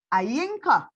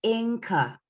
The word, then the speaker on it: Inka: So they would be Ayinka. No, just Inca. Oh, your ear is silent. Sorry, Yeah. Inka.